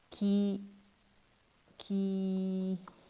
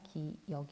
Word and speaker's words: 기역: 이거 어떻게 읽나요 이거 기 기이 여기던 역 4 기억입니다 기 욱 일하고 있는 친구가 있는데 기기 아니라 기역 이라고 할 수 있겠습니다 그렇게 이거죠 기억 이은